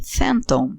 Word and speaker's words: Fenton: Reparem na pronúncia do nome Phantom, que é a mesma pronúncia de Phantom, palavra em inglês para fantasma. A pronúncia é a mesma ou quase a mesma, apesar da escrita ser diferente.